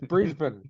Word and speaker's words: Brisbane: actors that's a Melbourne it's not Melbourne it's Melbourne or Brisbane it's Brisbane you know what I